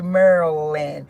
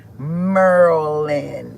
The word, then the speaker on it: Maryland: It should be Mer Maryland, but they say Merlin. So, I guess the um Y is silent. I think that's how it go. Merland.